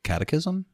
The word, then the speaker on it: catechism: Catechism is a summary or exposition of doctrine and serves as a learning introduction to the sacraments traditionally used in Christian religious teaching of children. Oh, wait, catechism?